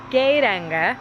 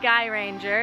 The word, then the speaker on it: Geiranger: One, we learned it's actually pronounced Geiranger, not Guy Ranger, as I was saying a lot of.